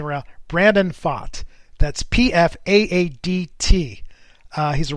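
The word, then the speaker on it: Pfaadt: him hold up for a second okay brandon fought that's how he pronounced his name i just quickly went back to the interview i saw of him to make sure i'm pronouncing it around brandon fought that's p-f-a-a-d-t uh he's a right-handed pitcher with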